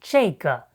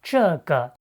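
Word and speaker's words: 这个: of 那个 and 这个 instead of 这个. That's simply a common northern pronunciation in China you often hear in everyday conversation.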